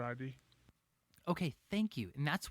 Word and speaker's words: id: how you say it here's how you say it uh isn't it id correct right brandon yeah yeah i always call it id okay thank you and